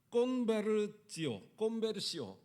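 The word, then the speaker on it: conversio: 근데 이게 라틴어에서 온 단어인데 이게 라틴어는 뭐가 있냐면 콘베르지오 이렇게 발음하는데 라틴어에서 이것은 뭐냐면 완전히 방향을 바꾼다는 의미입니다.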